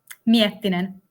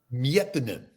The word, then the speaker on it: Miettinen: is that pronounced correctly? That's totally correctly. All right. And Miettinen? Miettinen. Miettinen. Miettinen.